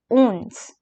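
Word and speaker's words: onze: the first number that is 11 which is owns so do remember that I'll be pronouncing the French pronunciations two times so that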